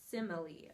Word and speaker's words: simile: mile is basically what it is but it's pronounced simile okay what a simile is is it just